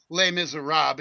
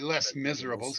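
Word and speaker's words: Les Misérables: Who wrote Well, they pronounce it lay miser rob. It's actually less miserables.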